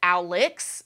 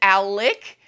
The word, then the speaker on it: Alec: for the fact that he is convinced his name is Alex because it's spelled Alex you said Murdo no I didn't but I heard him say himself in the trial his name is Alec so you guys I